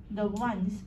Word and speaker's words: one: Because it starts with W. Although there's, it's a vowel, O, but it's a one. W, just like we won the game.